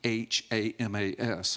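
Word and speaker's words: chamas: it's a Hebrew word you pronounce it with a little bit of guttural stop it's it was spelled in English c h a m a s but in it's Hamas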